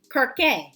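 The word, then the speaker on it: Kirke: game section anyway so this is actually pronounced kir is is what I cuz I asked him I said now is it Kirk or what what is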